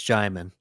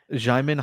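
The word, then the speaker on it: Djimon: I don't believe the D is pronounced, so I believe it's Jaimin. Jaimin Hansu.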